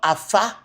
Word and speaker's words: Afa: It's called Afa. Yorubas call it Ifa. So don't tell me that it's only pronounced Fa.